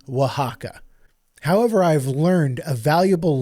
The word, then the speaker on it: Oaxaca: But I was pronouncing this place in Mexico as Oaxaca, and I am so sorry. I truly believe that that was the pronunciation, and that was foolish of me to just assume. It is Oaxaca.